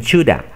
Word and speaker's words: shoulda: O could have, must have, would have, los nativos reducen todo este have a una A. Entonces dicen shoulda. ¿Ok?